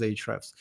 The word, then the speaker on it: Ahrefs: speaking people read it, they either say Ahrefs or Ahrefs. So yeah, I'm not sure what's the grammatically correct, but the way we No. pronounce it at our company is Ahrefs.